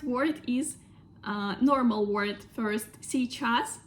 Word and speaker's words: сейчас: Сейчас. Russians often can pronounce it like щас.